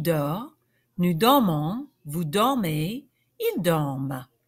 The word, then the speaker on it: dorment: So the resulting verb, je dors, tu dors, il dort, nous dormons, vous dormez, ils dorment. Don't forget, with all these verbs that end in ENT, the ENT is silent. Ils dorment.